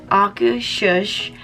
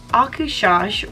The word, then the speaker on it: Akershus: I have Googled this word so many times to learn the pronunciation, and I think I finally got it. Akershus, and it is a character dining experience, but we're going to dive into all of the details shortly.